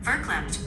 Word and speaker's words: verklempt: Verklempt, pronounced verklempt, means overcome with emotion, perhaps even choked or clenched by emotions.